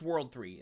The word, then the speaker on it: WWW: school PT Net News I know this is www but it's World 3 that's how it's pronounced World 3 crime On